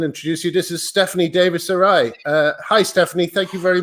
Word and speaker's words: Davies-Arai: This is Stephanie Davies Sarai.